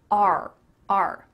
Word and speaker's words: our: R. R. Does that sound like the letter R? Yep, it is the same pronunciation.